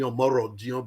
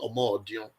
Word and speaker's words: Omodion: Omodion. A lot of people like to call me Omorodion, but I'm a Benin man and it's pronounced Omodion.